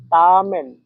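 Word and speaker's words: 他们: তারা এর সাইনিজ হচ্ছে তামে সবাই আমার সাথে সাথে উচ্চারণ করেন তামেন তামে এখানে দেখেন এর উপরে চাইনিজের এক নাম্বার টন ব্যবহার করা আছে আর এক নাম্বার টন অবশ্যই লম্বা সোজাভাবে বলতে হয় আশা করি এক নাম্বার টন কিভাবে বলতে হয় এটা আপনারা শিখে গেছেন।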